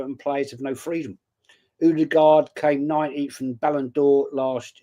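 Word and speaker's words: Ødegaard: Oud was telling me, "It's not Odard, it's Udard."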